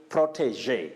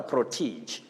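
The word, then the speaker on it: protégé: heard of northeastern region you say protege not a protege political protege eddie monkey of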